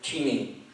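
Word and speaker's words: Cheney: thank you I have no problem with dick teeny the reason I say CH is because that's the way it's supposed to pronounced no nobody ever pronounces it that way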